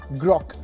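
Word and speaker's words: Groq: Finally, Nvidia has signed a non-exclusive licensing deal with AI chipmaker Grock, which is spelled as GR OQ, not to be confused with the XAI model Grock.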